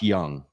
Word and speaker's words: Jung: and it's uh Josh Young right that's how you pronounce it the catcher his name is spelled juu n g and uh you know I was tempted to call him Jung but it's young this guy hits a